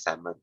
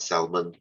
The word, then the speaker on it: salmon: just embarrassing yourself okay it's salmon guys simon not salmon why am i teaching